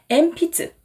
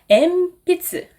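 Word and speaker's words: えんぴつ: 하지만 대부분의 한국인의 경우에는 이 응 발음을 미음처럼 그냥 받침처럼 뭉뚱그려서 발음하는 경우가 많기 때문에 엠피츠 이렇게 3박으로 발음하는 경우가 많거든요. 이거는 잘못된 발음입니다. 엠피츠 4박으로 발음해 주시기 바랍니다.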